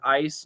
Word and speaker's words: ice: Is there a pronunciation difference between eyes and ice? Yes, the Z and S. So EYES is a Z sound, eyes, and ice is an S sound. Otherwise, they're the same.